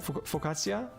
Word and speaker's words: focaccia: added I was on focaccia bread so you pronounce it focaccia so good such a